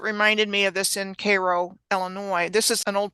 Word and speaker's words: Cairo: this postcard is from Koo Illinois is spelled the same way as as Cairo like Egypt when I saw that